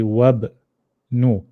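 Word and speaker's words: وابن: We jump straight to the ba. We say wabnu.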